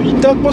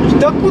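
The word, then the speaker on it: 潮来: 今ですね、茨城県の潮来市に入ってきました。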